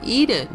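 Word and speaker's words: Ehden: the area for example a town across from hazrun is called eden e-h-d-e-n which phonetically is the same as eden e-d-e-n as in the garden of eden now although it appears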